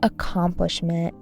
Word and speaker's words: accomplishment: Every accomplishment felt good for a moment. A campaign launched, a compliment from his boss, a few hundred likes on his latest post. Accomplishment. Accomplishment. Stress on the second syllable.